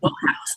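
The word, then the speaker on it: Wodehouse: Well, but of course you're talking about an author who couldn't pronounce his own last name either. I mean, everyone knows it should be Woodhouse.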